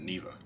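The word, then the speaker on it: Niwa: So that's how you pronounce it, Neva.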